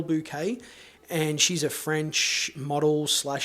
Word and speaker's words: Bouquet: I believe that's how you pronounce it, Carole Bouquet.